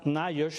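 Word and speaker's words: NIOSH: adquirir un respirador buscan la palabra myers se pronuncia así en inglés que son las siglas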